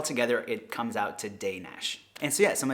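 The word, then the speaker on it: Dénes: D N S but the first e on it has an accent on it which gives like an a sound and the S on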